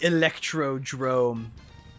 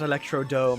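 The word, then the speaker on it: Electrodrome: The electro drrome. Probably the most commonly mispronounced Mario Kart track in history because it is not Electrod dome. It is Electro Drrome.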